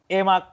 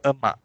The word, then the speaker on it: emak: Emak. Emaya. That's another E. Because we pronunciation have is okay, right?